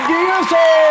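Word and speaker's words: D'Urso: please put your hands together and welcome diazo well thank you very much dog you actually pronounced my name correctly which is really great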